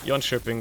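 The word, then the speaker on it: Göteborg: but you know whatever still weird how it's pronounced like y shiing despite the fact that it's SP with a K and you would assume it to be without yering but oh well Swedish is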